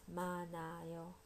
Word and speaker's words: 많아요: The polite present form is 많아요. 많아요. So H gets almost reduced. 많아요. 많아요. So if you want to say you have a lot of candy, you'd say 사탕이 많아요.